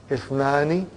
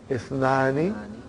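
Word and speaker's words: اثنان: That Ithnani, the Hamza is Hamzatul Wasal. If it comes in the beginning, it is pronounced. If it doesn't come in the beginning, then it is assimilated.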